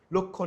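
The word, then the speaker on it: লক্ষ্মণ: একটা মফলা আছে, কিন্তু আমরা দেখছি এখানে কোনো ম এর উচ্চারণ নেই। লক্ষণ, এখানে কি আছে?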